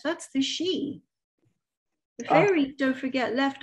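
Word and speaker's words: sídhe: the fairy man's are also called she but it's spelt s-i-d-h-e the sheer the the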